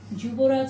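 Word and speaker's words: যুবরাজ: Juboraj Singh, which is Yuvraj in Hindi. Juboraj Singh. So, sorry. It will be not Yuvraj, it is Juboraj in Bangla. This is how we pronounce it.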